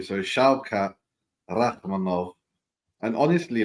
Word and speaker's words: Shavkat: It's like the German VW, like the V for the W. So Shavkat Rachmanov.